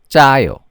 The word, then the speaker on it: 짜요: How do you pronounce the tense consonant? You say it with a higher pitch. So 짜요, 짜요.